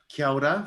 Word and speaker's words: kia ora: rest of the world um so uh kyoda from new zealand kia ora it's k-i-a-o-r-a so